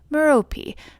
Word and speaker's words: Merope: Probably actually pronounced Merope, but again I go with the Harry Potter pronunciation.